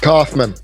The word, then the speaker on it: Kauffman: Hey, Jeremy, do you pronounce it Kauffman or Kauffman? Kauffman.